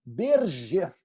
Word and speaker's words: Berger: Síndrome de Berger, ok? É assim que se pronuncia.